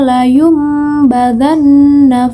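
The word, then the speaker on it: لَيُنْبَذَنَّ: 4 yang berbunyi kalla layumbadanna fil khutamah. Layumbadanna. Nah, di situ terdapat nun sukun bertemu dengan huruf ba. Maka nun sukun itu suaranya diganti menjadi huruf mim.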